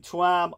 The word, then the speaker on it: Tuam: was the bonurus mother and baby home in Tam Ireland. So it's spelled B O N spaced S E C